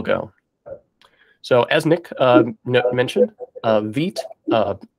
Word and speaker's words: Vite: that it is quick their official pronunciation is that it rhymes with sweet um and it was